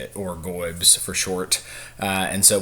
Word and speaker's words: GOIBS: uh pronounced gobs uh which I've mentioned a couple of times my college football fandom.